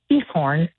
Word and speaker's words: Giethoorn: And uh it starts with a G but they pronounce it Giethoorn. Um and they kind of put like a little g- kind of sound with it. It sounds like they're hawking up a loogie.